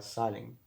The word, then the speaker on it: Zahlen: Bueno, esta Z viene de un vocablo alemán, que se pronuncia Zahlen, algo así, ¿no?